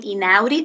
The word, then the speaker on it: Inaudi: finds this helpful so when you think of my name inaudi think of the belly button an audi and then it'll help you remember now i can't